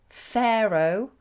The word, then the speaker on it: Pharaoh: could you pronounce Pharaoh Pharaoh that's got a strange spelling hasn't it a completely different pronunciation Pharaoh and could you